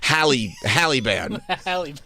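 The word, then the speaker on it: Haliburton: Yeah, Tyrese Halliburton, or you call it. I guess I should pronounce the A right. It's too close to Taliban. Halle band. Halle band.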